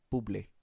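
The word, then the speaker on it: Bublé: his name like that cuz that's his last name it has the comma in the back it has to be bubly oh okay or bubbly bubbly no uh good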